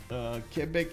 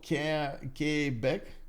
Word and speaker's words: Quebec: We do have him getting Quebec is Quebec.